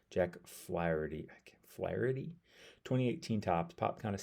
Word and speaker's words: Flaherty: I guess I keep wanting to say Flattery, and it's not right, obviously. Anyways, Jack Flaherty.